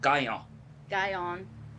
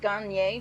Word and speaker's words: Gagnon: in French it's pronounced guy on yeah yeah you don't even like say the N at the end really it's like yeah like